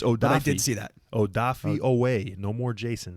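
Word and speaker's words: Odafe Oweh: like scotty it's odd i did see that odafi away no more jason it's odafi away double o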